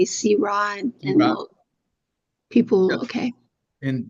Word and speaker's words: Syrah: Okay, so now when we go to ask for a Syrah, we're going to say Syrah, and people, okay. And just tell them that's the French pronunciation.